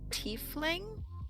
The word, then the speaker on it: tiefling: We had, I want to say she was a tiefling. Is that how I'm Yep.